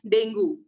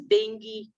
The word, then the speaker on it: Dengue: word we all mispronounce it we used to mispronounce it we call it Dengue yeah but the word is correct pronunciation is Dengue so while talking to people if you call